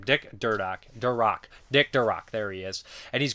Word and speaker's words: Durock: Dick Murdoch. I always mispronounce his name. Dick Durock.